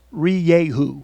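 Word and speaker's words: Rieju: in the US we're finally learning how to pronounce re Yahoo this is a Spanish company that now owns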